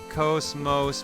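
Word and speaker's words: KOS-MOS: I am covening back to you with confirmation it's pronounced Cosmos because it's Greek, referring to the universe or creation as a whole or order in general.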